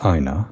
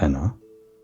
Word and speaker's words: Aina: Apparently it's Aina, not Enna.